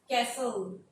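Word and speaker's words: castle: कैसल, T यहां पर silent हो जाता है।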